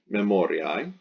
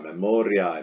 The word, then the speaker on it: memoriae: So the nominative will be memoria, the genitive will be memoriae, and then when you chop that AE pronounced I ending off, you get the stem memori.